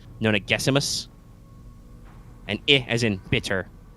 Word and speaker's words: Nonagesimus: It's Gessimus in the text, but the pronunciation guide says Nona Gessimus.